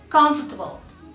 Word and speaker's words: comfortable: It's like in Spanish because my mother tongue is Spanish, and my teacher always used to say that it's just with two syllables and it's comfortable, comfortable, comfortable, and it's just comfortable.